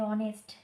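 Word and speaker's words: honest: আর ব্যতিক্রম আছে যদি বলা যায় যে অনেস্ট, অনেস্ট, এইচ এর উচ্চারণ মানে উচ্চারণটা করে দেখতে হয় কেমন হচ্ছে।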